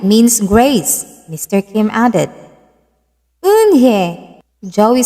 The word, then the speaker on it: Eun-hye: Yes, it's pronounced Eun-hye, and it means grace, Mr. Kim added. Eun-hye, Joey said slowly and this time perfectly.